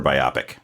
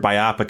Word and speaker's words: biopic: always called it biopic biopic rhymes with myopic and myopic has a y yeah so I don't